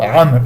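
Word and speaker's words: عمرو: Le waw dans le mot amr, il est là seulement pour indiquer. En aucun cas il se prononce. Donc ne cherchez pas à le prononcer en disant Amroun ou Amroun je ne sais quoi.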